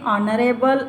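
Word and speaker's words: honorable: ऑनरेबल, ओ का sound आ रहा है।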